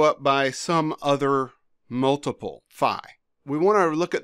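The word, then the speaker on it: φ: to our output if Phi is greater than lambda or fee is a lot of people will pronounce this if V is greater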